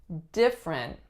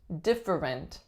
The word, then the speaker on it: different: different different this one a lot of my clients add in that middle syllable and they say different different but in fact most people take that one out and say different it was a really